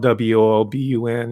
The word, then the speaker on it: Woburn: It's spelled w o b u r n and the locals call it Woburn.